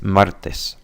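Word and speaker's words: martes: Domingo um other letters like T in English we tend to blow as we say it so it's not Mar it's Martis there's there's no blowing with blowing as you pronounce it again using your tongue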